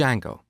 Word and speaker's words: Django: popular framework called D Jango so it's spelled with a silent D and it's pronounced Jango it's a web framework